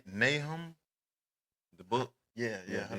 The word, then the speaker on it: Nahum: Um, you know, um, and am I pronouncing this right? Nahum.